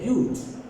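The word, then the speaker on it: huge: आते हैं रट, ये वर्ड था रट, ई लगाने से कितना कमाल हो गया, ये हो गया ह्यूज। क्या हो गया, ह्यूज। अगेन ई साइलेंट जरूर है पर देखिए प्रोनाउंसिएशन को कितना चेंज कर जा रही है, बहुत चेंज कर जा रही है।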